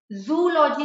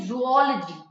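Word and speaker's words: zoology: इसका correct pronunciation है बायोलॉजी, जूलॉजी नहीं, जूओलॉजी, ठीक है।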